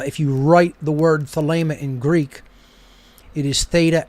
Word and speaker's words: Thelema: as an h and in ancient greek ada is pronounced a long a so without a doubt